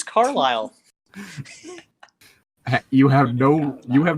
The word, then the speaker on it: Carlisle: all I could ask Carlie his name is Carlisle you have no you